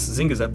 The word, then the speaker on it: Zing Zap: It's Zing Zap, right?